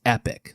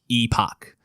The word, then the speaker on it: Epoch: We can also name it, christening it the Epic. That's how that's pronounced, right? I was being a bit of a dickhead about properly pronouncing Masamune, but it is pronounced Epic, not Epoch, because I thought it was like Epoch until